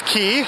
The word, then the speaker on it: Quay: And the word key is spelled not in the kind of the same way that you would spell the key that you would put in the door to unlock it. In this case, key is spelled Quay.